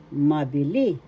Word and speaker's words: mabili: seller in English maili first syllable ma second syllable b third syllable le mabil mabili the accent syllable best seller in English